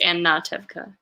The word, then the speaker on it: Anatevka: Jim says it is an A and instead of an O, so it's Anatevka.